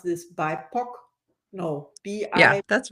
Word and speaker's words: BIPOC: How do you pronounce this? BIPOC? No, Yeah, B-I. that's right. Yeah, BIPOC.